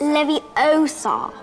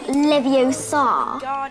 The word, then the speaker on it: Leviosa: them standing beside you you're saying it wrong it's leviosa not leviosa you do it if